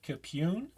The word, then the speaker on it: Capune: with a lock picker today's guest is Chris capune um I hope I said that right say